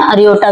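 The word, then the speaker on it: aorta: अर हिंदी में बोलते हैं ओटा। और इंग्लिश में क्या बोलते हैं? अरियोटा। क्योंकि आर हमारा क्या रहता है? साइलेंट रहता है।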